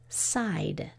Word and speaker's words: side: you did that's right if we didn't put the E on there we'd have to read it as Sid as a closed syllable but it's the long I sound so that's why we need that silent e here's your next word